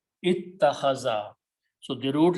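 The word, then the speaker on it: اتّخذ: And in this particular bab, this particular alif is pronounced as a ta. So what is it? Ittakhaza.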